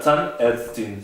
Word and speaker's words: Zahnärztin: Obviamente, acá esta no sería más mayúscula, sino minúscula, y tenemos Zahnarzt, que significa dentista, o Zahnärztin, también se le deja el umlaut, la A, pues se pronuncia Zahnärztin, significa dentista mujer.